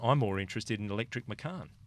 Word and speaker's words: Macan: Just a thought, as a family man, I'm more interested in electric Macan. And we know that's pronounced Machan because we've been corrected on from time to time.